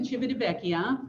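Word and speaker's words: Civitavecchia: so you can see that it starts in chibidibeckia that is the proper pronunciation i speak a little italian um so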